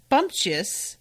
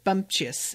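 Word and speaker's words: bumptious: him realizing this before so bumpjust i'm making sure that i'm actually like pronouncing this correctly as well it's spelled b-u-m-t-i-o-u-s i don't know how many of you are familiar with this word um yeah it looks like bumpjust is the way you say it self-assertive or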